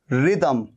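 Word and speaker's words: rhythm: तो रिदम में भी देखिए एच आ रहा है, ये एच आ रहा है, लेकिन एच दोनों जगह पर साइलेंट है। रिदम, RY, रिदम।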